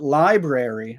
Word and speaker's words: library: seeing here is that for Zoe from the UK she would take out one of the syllables so she wouldn't say